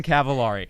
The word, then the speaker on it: Cavallari: Rhymes with calamari. That's true. Telemari. It's Kristen Cavallari.